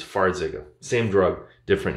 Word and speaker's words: Farxiga: border but in one it's spelt f a r and the other one is f or four zega versus far zega same drug different name